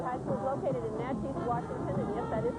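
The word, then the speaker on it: Naches: Natchez Valley High School is located in Natchez, Washington, and yes, that is how they pronounce it.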